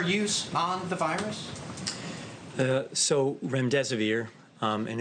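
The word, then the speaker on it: remdesivir: to ask out rent rent severe if I pronounced that correctly can you say it currently approved for use on the virus so REM des vir and it's a drug made by Gilead that's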